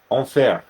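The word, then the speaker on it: enfer: spelled differently but uh in French means hell e n f e r onair you usually have to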